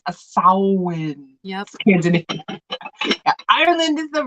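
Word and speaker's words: Samhain: Sam Hayne and you'll still hear people who pronounce it champagne but it's a sowin yes Ireland is the right answer now what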